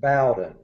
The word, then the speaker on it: Bowden: we we pron we're we're Southern so we pronounce it Bowen it's there you go